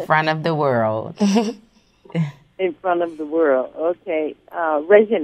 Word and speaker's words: Regine: Regine, am I saying that correctly? Yeah, Regine. You said it right.